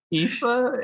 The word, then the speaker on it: Aoife: uh it's all right y'all would not believe how this is spelled ifa and it's aoife yeah so a lot